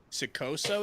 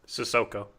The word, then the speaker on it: Sissoko: Sikoso is his name. Sissoko.